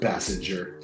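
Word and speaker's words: Basinger: side like woohoo pleas Ken says it's pronounced Bassinger thank you thank you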